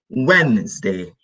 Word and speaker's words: Wednesday: day it's Wednesday remember D is no D Wednesday so forget the D the D sound so we've got Monday